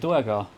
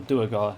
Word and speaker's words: Duergar: a whole pack of Duergar. Or Duergar, if you prefer. I like the Duer sound. But pronunciations may vary. There is assuredly a canonical pronunciation, and it probably is Duergar.